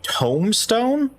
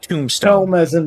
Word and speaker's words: tomestone: rometta are you saying Tome Stone home that's what it's called Tome not Tombstone book it's actually tomestone yes it's Tome Stone